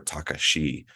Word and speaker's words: Takashi: that t stands for tekashi or Takashi as they pronounce it um but uh yeah